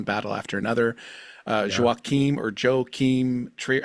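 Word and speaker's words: Joachim Trier: Anderson for one battle after another uh or Joe Keem Trier how do you say that yo yo Keem trier trier yoe trier um no relation to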